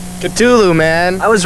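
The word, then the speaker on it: Ktulu: yeah how do you how do you pronounce the instrumental on the second side of Ride the Lightning the exact pronunciation culu man I was right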